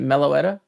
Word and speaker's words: Meloetta: How do you pronounce that? Is it Meloetta?